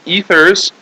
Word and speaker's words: ethers: functional group called ethers this is not ethers this is ethers so this is like a a long e here ethers and the stress would be on the first syllable ethers ethers okay an ether is